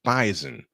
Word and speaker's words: bison: I said it right the S is pronounced like a z bison in a thriller last